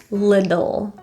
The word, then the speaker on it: little: The T in little is pronounced as a flap T or a quick D, little.